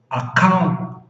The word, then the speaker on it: accountant: Quando nós temos esse tracinho aqui em cima, tipo um apóstrofo, que é porque a sílaba que vem depois dele é stressed, é onde você sobe, sobe, sobe o som.